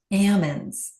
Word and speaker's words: almonds: Uh, ammons. You have to say it like a farmer.